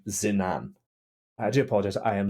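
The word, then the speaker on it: Zinnan: uh I do apologize uh my name is zinan how would you spell that zenan i n n a n zinan I do apologize I am I am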